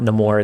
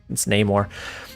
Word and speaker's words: Namor: was like, "Hey man, it's not Namor, it's Namor."